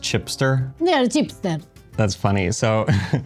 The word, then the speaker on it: Cipster: They are Cipster. That's funny. So in Italian, CI is pronounced ch, like CH for us. So it looks like Kipster to me, but it's pronounced Cipster.